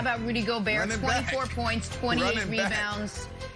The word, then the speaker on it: Gobert: to note fun fact in french rudy gobert is pronounced rudy gobert nick who we got